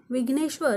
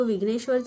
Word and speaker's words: विघ्नेश्वर: इथे आर लिहून घेतला र हा शब्दात शेवटी आहे आणि जसं की मी सांगितलं शब्दात शेवटी व्यंजन आल्यास त्याच्यापुढे अ चा उच्चार होत नाही म्हणून आपण आर च्या पुढे ए लिहिणार नाही मग विघ्नेश्वरच स्पेलिंग काय तयार झालं